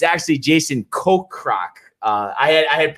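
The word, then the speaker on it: Kokrak: got wrong on friday's show it's actually jason ko croc uh i had i had pronounced would you say cockroach cockroach he does need to win and jordan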